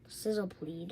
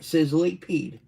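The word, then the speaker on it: Sizzlipede: What did you say? Sizzlip. Sizzlypede. Sizzlepleed. Sizzlypede. Peed. You didn't say it right. Sizzlypede.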